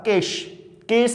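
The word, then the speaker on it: Chase: लेकिन उसको और प्यूरिफाई और अच्छा एक्सप्लेन करने के लिए 1952 में Alfred Hershey and Martha केस भी कहती हैं, चेज भी कहते हैं, वो आपकी प्रोनाउंसिएशन है, जो मर्जी बोले।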